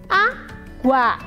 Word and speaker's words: água: Água. Professora, mas GU não é dígrafo? Não, quando está aqui, ó, olha quando eu pronuncio, ó, água, eu escuto aqui a letrinha U e o A separado.